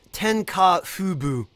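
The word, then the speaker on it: 天下布武: And it's pronounced Tenka Fubu, and it means spread militarism under the sun.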